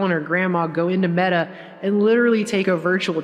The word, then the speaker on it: meta: Facebook dead, because apparently the word meta is pronounced like the feminine form of the Hebrew word for dead.